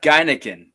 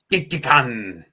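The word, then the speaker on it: Gekkeikan: And it is not, that was a good, it is not Geineken, is it? It's not Geineken. Gekikan.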